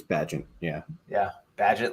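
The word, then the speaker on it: Bagent: rooster and drafted Tyson Baggett, however you say that. I don't know what your name is. Badgett? Isn't it Badgett? I think it's Badgett. Yeah. Yeah. Badgett, like pageant, but not spelled like that.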